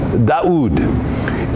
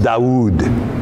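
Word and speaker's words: داود: In the Arabic world to this day, they use the name Daoud. Daoud. Implying an awe following the first Dalet. Daoud.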